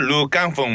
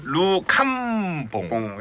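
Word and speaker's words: Rue Cambon: 영어 아니고 지금 프랑스? 샤넬 31 루 캄봉. 네. 네, 해가지고 루이구나. 루이 캉봉. 네, 프랑스 네. 그쪽이니까.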